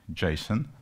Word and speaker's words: JSON: So you pronounce it Jason with E. That's very important because many people just mispronounce it.